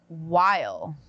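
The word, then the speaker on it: Wyle: Brown, Paradise, Gary Oldman, Slow Horses, Pedro, Pedro Pascal, The Last of Us, Adam Scott, Severance, and Noah While is how you pronounce it, everyone from the pit.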